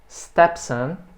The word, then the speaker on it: stepson: Stepson. Novamente a sílaba tônica é sempre a primeira.